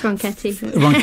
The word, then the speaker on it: Ronchetti: It's Ronchetti. I know, I just like where you stop me and say that song. It's spelled Ronchetti.